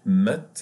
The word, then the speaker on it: maths: Math, always in French, we pronounce it math, and we don't pronounce the H.